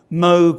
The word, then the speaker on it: Moog: on his desk about moog rhymes with rogue not moog rhymes with fugue so he really didn't